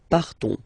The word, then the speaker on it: partons: So classic ending ONS, you don't pronounce the S, you just have this on sound nasal. Nous partons, nous partons.